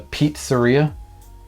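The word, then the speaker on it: Peatzeria: There was one evening that we ate at the Pizzeria. P-E-A-T Zeria. Is that like a pizza or not a pizza? Yeah, it's a pizza place, but they spell it P-E-A-T, like Pizzeria.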